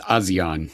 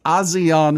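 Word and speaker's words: ASEAN: Do they pronounce it Asian as EAN? The Association of Southeast Asian Nations. I'm just gonna say Asian. I think they go with Azion, but whatever.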